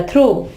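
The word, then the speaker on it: through: और थ्रू, थ्रू, ठीक है, देखिए यू आ गया यहां भी GH से पहले, तो GH आवाज नहीं देगा, थ्रू।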